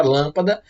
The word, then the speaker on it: lâmpada: Palavras cujo a sílaba tônica é a antepenúltima são chamadas de proparoxítonas. Mais uma vez, palavras cuja sílaba tônica é a antepenúltima, ou seja, nós dividimos as palavras em 3 sílabas nesse caso. Lâmpada. A última é a da. A penúltima é a pá. E a antepenúltima é a lã.